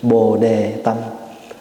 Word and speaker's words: Bồ-đề tâm: The Chinese Vietnamese pronunciation Bồ-đề tâm.